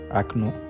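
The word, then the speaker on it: окно: Oui, je comprends que nombre d'entre vous se demandent, mais pourquoi donc prononcer le A à la place du O?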